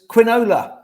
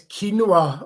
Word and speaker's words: quinoa: terrible so we've got some we've got quinoa quinola so it's quinoa okay sorry i chucked you under there yeah